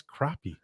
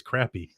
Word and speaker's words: crappie: He goes, how do you say this word? You know, like, that's crappie. He's like, good, because I thought it was crappy.